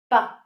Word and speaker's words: pas: And then the second part of the negation is pas, pronounced pas. You do not pronounce the final S.